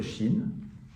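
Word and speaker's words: ש: La lettre chine qui se prononce ch.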